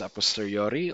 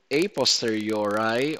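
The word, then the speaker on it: a posteriori: and second one is aposteriori also pronounced as a poster uri or a priori whatever pronunciation pronunciation you are comfortable with okay both latin phrases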